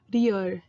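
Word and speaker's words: 리을: that sound is called riol. And that sound is really difficult for a lot of native English speakers to pronounce, simply because it's in between an R and an L sound.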